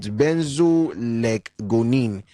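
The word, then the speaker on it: benzoylecgonine: accredited um organization that okay this is a very very long word OVA you pronounce it benzo leonine which is a metabolite of cocaine.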